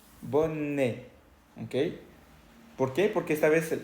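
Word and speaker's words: bonnet: encontramos la ete ok Al final de la palabra boné se escribe con et pero no se pronuncia e escucha Cómo se dice bone bone por qué porque esta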